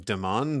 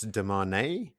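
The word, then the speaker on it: Demandred: of quick ones um we've been pronouncing deand the wrong way deand is not the way that you pronounce it it's de man I heard it spelled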